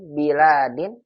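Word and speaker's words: بِلَادٍ: Nah, lamnya panjang Ibu. Ulang lagi Bu Amsi. Hum min biladin. Ini beda kan. Baladin pendek karena mufrad ya, negara. Kalau bilad ada alifnya. Biladin.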